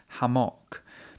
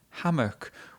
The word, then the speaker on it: hammock: Now, Tomoko pronounce it, pronounces it as "hamok" She, she stresses both syllables in the word and that was not a natural way to pronounce it. Normally, we just say hammock with the first syllable stressed.